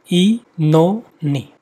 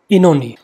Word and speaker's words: Oenone: Mark the pronunciation of this title. It is Oenone. Oenone.